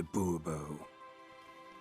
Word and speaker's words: Bourbeau: Monsieur de Bourbeau. The emphasis falls on the last syllable. Bourbeau?